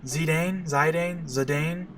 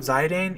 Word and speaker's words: Zidane: Zidane. I believe that the most official pronunciation of Zidane is Zidane. But as a kid, I always pronounced it Zidane.